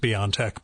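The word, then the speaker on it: BioNTech: um it's the pfizer beyond tech one it's pronounced beyond tech by the way at least according to the the ceo um and according to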